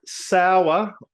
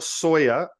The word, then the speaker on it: Sauer: Matt Sauer or Sawyer or Sawyer, however you want to pronounce it, spelt Sauer. How would you pronounce that? Ready, go, Maddie. Sawyer.